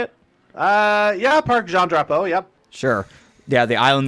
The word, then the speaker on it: Parc Jean Drapeau: Yeah, Parc Jean Drapeau, yep.